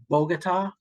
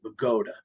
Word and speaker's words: Bogota: outside of the tri-state area it looks like Bogota just like Colombia but no in Bergen County we pronounce it Pagoda so anyway so he lived right on river